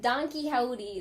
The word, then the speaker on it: Don Quixote: Don Quixote. Don Quixote. Right. Don Quixote. That's how I'm gonna pronounce it now.